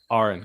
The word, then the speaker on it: Aaron: you Aaron all right it may look like Aaron but it's pronounced like registered nurse gotcha Aaron gotcha um so yeah